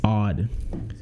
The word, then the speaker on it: AOD: different aod and you want to pronounce aod properly it's odd shout out to devon